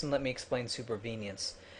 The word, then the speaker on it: supervenience: as usual first off BP pronounces supervenience wrong he calls it super inv venience and let me explain supervenience it's the idea that